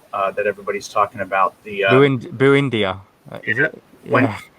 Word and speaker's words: Buendia: The Buendia, is it? Yeah. Buendia. There you go. I told you about the pronunciation.